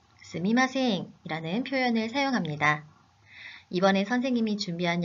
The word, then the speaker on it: すみません: 스미마셍을 스이마셍 으로 발음하기도 합니다. 아, 정말 너무 혼란스러워요 하는 학생들이 있는데요. 두 표현 의미의 차이는 없습니다. 하지만 두 표현 중에 스미마셍이 올바른 표현입니다.